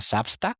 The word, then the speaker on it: Substack: Se pronuncia Substack, pero bueno, se escribe así, Substack.